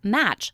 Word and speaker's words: match: different sounds for example the word match has five letters but only three phonemes m a c h the t in match is silent and the cha is